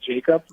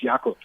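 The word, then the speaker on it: Jakub: ask them and then he also likes to be called Jacob but you know in Europe it's yakub so yeah there's a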